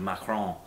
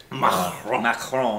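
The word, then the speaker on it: Macron: I mean she went she slid right into the French pronunciation of Mron. Mron in France.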